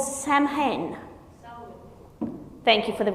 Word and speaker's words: Samhain: It's a pagan tradition called Samhain. Thank you for the correct pronunciation. How do you pronounce it? Selwyn. But there's no L in it. Selwyn. It's like Selwyn.